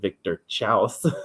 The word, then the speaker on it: Victor Chaos: known as victor chaos they pronounced it victor chaus to make one of